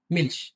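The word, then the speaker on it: Milch: এম মিল মিল দুধ এখানে দেখেন আপনার কিন্তু হচ্ছে এর মত উচ্চারণ হয়নি মিলস মিলস অর্থ দুধ আবার দেখেন নিস্ট নিস্ট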